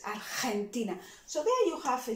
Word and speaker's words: Argentina: So it's not Argentina, it's Argentina. So there you have a GE. Again, we're gonna try to pronounce that as aspired as you can.